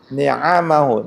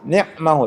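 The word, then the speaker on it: نعمه: Hamdan yuwafi ni'amahu. Ni'am itu bentuk jamak dari nikmah. Itu kadang-kadang ada tuh di luar sana ya. Imam itu dibacanya hamda yuwafi ni'mahu, itu salah.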